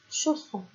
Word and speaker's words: chausson: Comme d'habitude, si je mets ce S là, ici, alors qu'il y a une voyelle à gauche et à droite, ça va se prononcer Z. Et donc non, c'est le double S et ça va faire chausson.